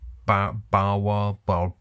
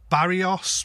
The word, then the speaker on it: Barrois: It's Barrois because the Barrois. Man himself actually spelled it phonetically for me in a comment because I was like, Barrios? What is Barrios?